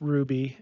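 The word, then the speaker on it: Roux: have to look up how to pronounce Ruby it's Ru r o uxb Ruby culinary school that sounds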